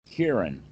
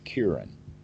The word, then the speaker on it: Kieran: kiran kieran okay that's the one all right there's an english language females named but this is kieran yes on yeah